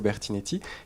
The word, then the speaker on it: Bertinet: vous poser jusqu'à présent nous avions toujours dit Francesco Bertinetti et vous avez prononcé à l'instant Bertinet Bertinet absolument parce que il signe en français c'estd qu'il revendique je